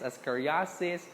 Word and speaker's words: ascariasis: they make fun of you okay when you pronounce it that's ami biases ascariasis it should be amibiases is iss ascoriasis okay